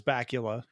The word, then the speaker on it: Bakula: Bakula's name and so he called him Bakula forever and I I think that's a much cooler way of pronouncing it especially Dan having a a British accent but it's bacula Scott Pula give us